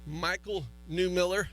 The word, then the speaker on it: Mychal Newmiller: Mychal Newmiller.